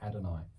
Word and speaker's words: Adonai: page they're pronounced yahweh adonai and they're two hebrew words from the bible and yahweh is the